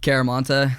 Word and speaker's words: Chiaramonte: show before oh yeah i was gonna try your last name but i'm scared i'm gonna butcher it man how do you say it it's a cool name though caramanta see that's sick dude